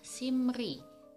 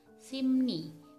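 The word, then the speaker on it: 심리: untuk contoh yang pertama adalah simri harusnya Dibaca simri tapi yang benar dibaca simni penulisannya tetap cuma pengucapannya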